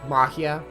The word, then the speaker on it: Majiya: The J being an H, Majiya.